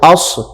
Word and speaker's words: عصر: اور عصر کی نماز، عصر عین صاد زبر عصر عصر فجر عصر.